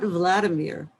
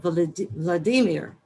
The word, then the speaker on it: Vladimir: to some school assignment he corrected my pronunciation not vladimir but vladimir i was embarrassed and